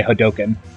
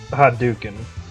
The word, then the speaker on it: Hadouken: uses the Hadoken, you actually hear him say Hadoken. Hadouken! Hadouken. Hadouken! He goes, It is pronounced Hadouken. he goes, Hadoken! But it's pronounced Hadouken.